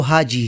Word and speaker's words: حاج: سکتا ہے، جیسے الکتاب۔ حج کرنے والے کو عربی میں حاج کہتے ہیں، حاج کی جمع حجاج ہے۔ قیوم ملک نے اپنی کتاب اردو میں عربی الفاظ کا تلفظ میں حاجی کے عنوان کے تحت لکھا ہے، عربی میں حاج، الحاج، بول چال میں عرب لوگ حاجی بھی کہہ لیتے ہیں۔ حاج کے ساتھ